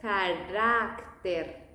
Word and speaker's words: carácter: In the Spanish pronunciation, it's more flat. Character, carácter. And be aware with the T's, always.